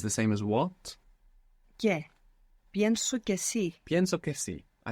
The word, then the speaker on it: pienso: Pienso. They're the E splits when we stress it.